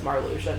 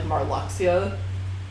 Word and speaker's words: Marluxia: I'm so glad that I know it's marlusia now because I was always like until I met you I always pronounced it like marluxia but I'm dumb less